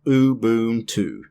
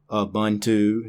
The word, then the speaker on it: Ubuntu: It's Ubuntu. All long U's, not Ubuntu, not Ubuntu, Ubuntu.